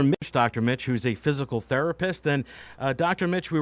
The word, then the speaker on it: FYZICAL: Mitch who's a physical therapist and dr.